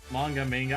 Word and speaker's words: manga: Manga. I say manga because that's how you say it in Portuguese.